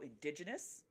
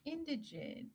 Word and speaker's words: Indigent: I'm like, okay, so indigenous, indig, So if you could tell our Close. viewers real quick how to pronounce the title of your book. Oh, it is pronounced indigent.